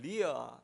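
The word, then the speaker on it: Leah: 그런데 주변에 레아라는 말이 영어로는 리아 이렇게 이야기를 리아 이렇게 발음을 하는데, 이런 이름은 주변에서 들어보셨습니까?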